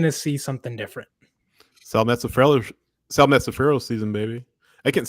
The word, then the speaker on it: Mazzaferro: Sal Mazzaferro season, baby. I can't say his name. Mazzaferro. Mazzaferro. It's a lot. Mazzaferro. Put some Italian on it.